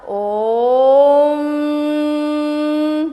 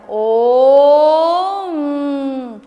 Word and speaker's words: ओम: ध्यान रखिएगा ओ उ म के मिलन से ही ओम बनता है। ऐसा नहीं बोलना कि ओम दिस इज़ रॉन्ग या ओम this is also wrong. यानी के दोनों को बैलेंस करना है। ओम दोनों बैलेंस होना चाहिए।